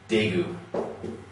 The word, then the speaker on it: Daegu: the city that represents the example for this is daegu okay the city jegu used to be spelled with a t and then around the same time they change it to a d okay just showing that